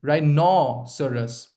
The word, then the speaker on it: rhinoceros: It's not Seros, it's Saras. Saras. Okay. Rhinoceros. Stress on no.